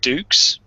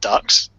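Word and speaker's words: Dux: Oh, apparently it's meant to be pronounced Dukes, not Ducks.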